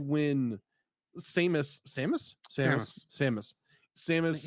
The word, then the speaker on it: Samus: things it's like when Samus Samus Sam Samus Samus it's literally the name Sam with an us Samus Samus yeah I